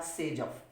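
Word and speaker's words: Saytzeff: This one इज the major product according to कौन सा rule बताया था, सेजफ, SAYP, स्पेलिंग रहेगी इसकी ZEFF, सेजफ रूल, ठीक है।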